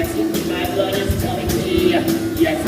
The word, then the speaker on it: May: No, all I mean is it's spelled M-A-Y, but it's pronounced My, not May.